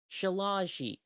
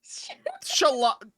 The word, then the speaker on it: shillelagh: Barkskin gives you increased AC, Shield of Faith, Shillelagh, and then Spike Growth. Hold on. Can you say that again? Shillelagh.